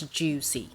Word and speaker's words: Joocyee: juicy juicy because there there is a c in here i think according to its chinese name it should pronounce juicy until i've been corrected